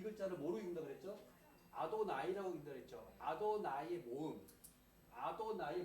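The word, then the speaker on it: אדני: 그래서 이 발음을 안 하고 대신 뭐라고 했냐면 아도나이라고 발음했어요.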